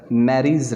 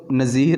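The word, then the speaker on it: Nereis: Marine environment के अंदर नैरीज रहती हैं। ये बच्चों नज़ीर नहीं पढ़ना इसको, ये नैरीज, ठीक है जी।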